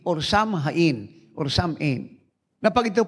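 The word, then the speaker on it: Samhain: samin s a m h a i n samin or samin or samin na pag Ito po pronounce ang ibig pong sabihin nito ay so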